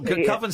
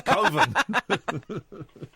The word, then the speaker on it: Coven: filmography after Coven uh I think it's pronounced Coven. No, Coven sounds like oven. It's Coven.